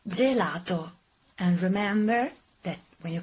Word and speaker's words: gelato: because you like it the correct pronunciation is gelato and remember that when